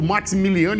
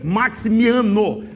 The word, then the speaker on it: Maximiano: Eu falo Maximiliano e errei a pronúncia. Ricker Maximiano é o nome correto e a pronúncia correta.